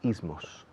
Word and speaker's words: ism: Fijaos que como en inglés decimos los ismos. Ism. Se escribe ISM, pero imaginad que hay una A en medio.